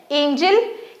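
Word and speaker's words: angel: Energy चेंज genuine GeM अब ये देखो एंजल लिखा हुआ है ए एन जी ई एल एंजल यहां पे जी को ज पढ़ा जा रहा है बट बट एंगल अगर हमें लिखना हो तो हम ऐसे लिखते हैं एंगल। तो ये लगभग स्पेलिंग है बट यहां पे जी को ग पढ़ा जा रहा है। क्यों? क्योंकि इसके बाद ई आई वाई के अलावा कोई अल्फाबेट आया है इसीलिए।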